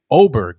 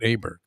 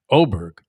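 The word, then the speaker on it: Åberg: Levig Oberg is how you pronounce it. Not Aberg. Oberg.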